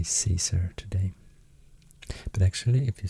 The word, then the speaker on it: Caesar: cesarian or kai sciences because caesar i guess was pronounced kaiser since it's spelled with a c but we are so used to say caesar today but actually if